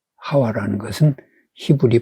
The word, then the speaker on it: 하와: 하 1 똑같은 말입니다 이것은 히 북이 예 하와 라는 것은 10 우리 발음으로 어 하 봐 아 예 본래 발음이